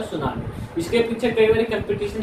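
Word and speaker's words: tsunami: सुनामी T silent है, जापानी शब्द है, जिसका मतलब क्या होता है, ऊंची लहरें।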